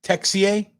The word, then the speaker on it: Texier: of the net texier texier texier it's not touche it's tech ca i didn't watch a video on how to